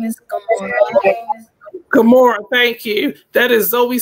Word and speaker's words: Gamora: Pronounce her name for me. Her name is Gamora. Gamora, thank you.